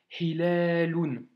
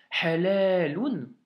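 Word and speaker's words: هلال: tu sauras que c'est Hilalun d'emblée. Par contre, si tu le prononces mal, tu pourrais lire halalun.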